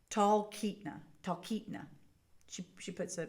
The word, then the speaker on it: Talkeetna: Talkeetna. She puts a pronunciation guide in there, so there we go.